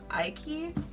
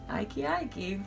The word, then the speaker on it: Aiky: So I got these from the last Aiky release. That's how you say it. I still need confirmation on that. It's like crikey, because she's Australian. Aiky.